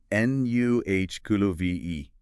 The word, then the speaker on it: Nuckelavee: Based on one text, it's generally given as Mosiki. So, nuh kulu v. Nuh kulu v e.